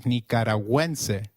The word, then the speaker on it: Nicaragua: Gu when followed by another vowel like in gu is pronounced like in gwen. So let's try saying nicaragu again. It is nicaragu.